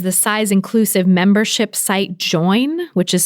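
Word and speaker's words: Joyn: size inclusive membership site join which is spelled j-o-y-n and it's at j-o-y-n join dot co not dot com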